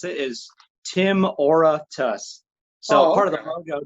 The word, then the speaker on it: Timoratus: it out okay okay so kind of like aura but yeah okay excel